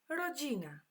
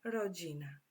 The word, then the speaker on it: rodzina: The Polish word is rodzina.